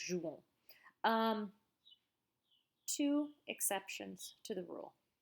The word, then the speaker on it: jouons: Don't pronounce the S here on the end, just jouons.